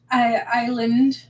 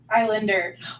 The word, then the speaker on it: Islander: Eyelander? Islander. Oh, Islander. There we go. I knew I was pronouncing it wrong, but the right word wasn't coming.